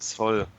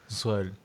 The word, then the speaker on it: Zoll: In English is correct. In German it's Zoll. Zoll.